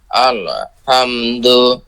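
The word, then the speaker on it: الحمد: আল হামদু, আল, আল বলে থেমে যাবেন না, ভাগ হয়ে যাবে দুইটা কিন্তু, আলহামদু, আলহামদু। আল্লাহ হামদু। যে আল, ওখানে একটু বাড়ি খাচ্ছে আপনার, আল বলে একটু মনে হচ্ছে কেমন ব্রেক, ব্রেক হয়ে যাচ্ছে। নো ব্রেক, হবে আলহাম, আলহাম।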